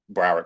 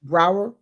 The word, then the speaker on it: Broward: What's it called? Broward College. Brower? Broward, Brower. Broward. Broward. Broward. Yeah, like Okay. Broward. Okay, thank you.